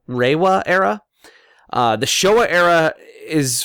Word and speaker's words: Reiwa: era, the Heisei era, and I believe it's pronounced Reiwa era.